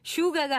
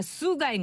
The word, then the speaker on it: 슈가: 근데 이게 이제 슈가가 아니라 수가인 거예요.